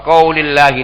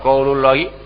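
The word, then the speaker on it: وقولِ الله: Berarti bacanya apa? Wa qaulillahi ta'ala. Itu. Bukan wa qaulullahi ta'ala.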